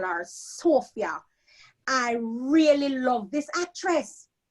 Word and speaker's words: Sophia: So it's no longer Sophia, as the Jamaicans call me. It's Sophia. So, and It's rhyme with Kuya. Kuya. So there you go. For the Jamaicans now, I can tell them, say Kuya, Sophia.